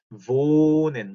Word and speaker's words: wohnen: 그래서 wohnen 이렇게 읽었죠. wohnen 길게 ich wohne 이렇게 길게 읽었죠. wohnst, wohnt, wohnen, wohnt, wohnen 이렇게 오를 길게 읽었죠.